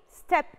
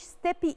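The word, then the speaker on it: steppe: Number 3, step eagle. وما اسموش steppy eagle. The E at the end is silent. So it's step like the word step.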